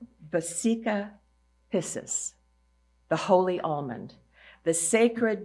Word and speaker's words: vesica piscis: It's called the I want to pronounce it correctly. vesica piscis, the holy almond, the sacred geometry formed by two circles overlapping and containing the center of the other.